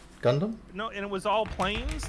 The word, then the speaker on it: Gundam: that was before oh gungum is that how you say it gundam no it was all